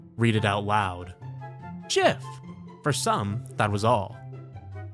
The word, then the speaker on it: GIF: When graphics is pronounced Jaffix, then I will pronounce GIF with a J.